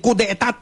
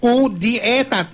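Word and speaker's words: coup d'état: karagdagang detalye tungkol sa balita na pagsisigurador ng mga senador na walang mangyayaring coup d'etat sa Senado. Yung pagpapatalsik kay Senate President, ha? Coup d'etat. Coup d'etat. Yun ang spelling nito, coup d'etat, E-T-A-T.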